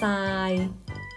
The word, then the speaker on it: ทราย: โทร มา นัด ฉะเชิงเทรา ตัว ทร เหล่า นี้ เรา ออก สำเนียง เป็น เสียง ซอ นัก เรียน สามารถ ฝึก